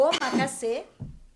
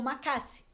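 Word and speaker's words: omakase: Que é o o macacass ou o macasse. As duas pronúncias estão corretas.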